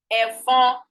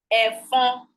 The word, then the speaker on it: ẹ̀fọn: No consonants ends a word in Yoruba language. Wherever this occurs, one of them is a nasal vowel. For example, ẹ̀fọn, mosquito, ẹ̀fọn, mosquito. This is not a consonant. This is a nasal vowel. Just like we have nasal consonants, we have nasal vowels.